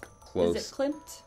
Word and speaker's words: Klimt: Is it Klimt? Klimt, Gustav Klimt.